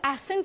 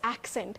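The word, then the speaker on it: accent: एक्सेंट को भी लोग एसेंट बड़ा बोलते हैं, सो दैट्स एक्सेंट।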